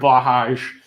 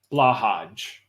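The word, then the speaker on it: Blåhaj: um blah like black blah like black hajj like the islamic pilgrimage hajj well now i gotta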